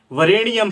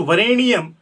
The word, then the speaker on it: वरेण्यम: अगर आप जप कर रहे हैं तो आपको उस समय उस ढकार का आधा प्रयोग करना है, लेकिन आप पाठ कर रहे हैं तो वरेण्यम, उस ढकार को ऋणी पूरा उच्चारण करना है। अगर आप उस ढकार को पूरा उच्चारण करेंगे तो 24 वर्ण ना होकर के वह 25 वर्ण हो जाएगा।